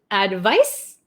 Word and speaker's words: advice: One more time, pronunciation. Advice, advise.